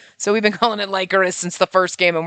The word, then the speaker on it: Lycoris: is Virche Evermore Epic Lycoris. I know it's Lycoris. Somebody told me that in the first game that's how they pronounce it, but that sounds disgusting because it's like liquor.